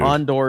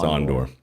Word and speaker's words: Andor: Ondor is the proper way to pronounce it. Yeah, it's Ondor.